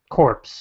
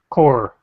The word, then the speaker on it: Corps: notes the Goblin Corps corpse or core I guess the P is silent in that respect by re Marmol it's